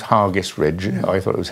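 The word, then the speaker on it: Hergest Ridge: And Hargis Ridge, I'm told it's pronounced Hargis Ridge. I thought it was Hargis Ridge, just outside Kington.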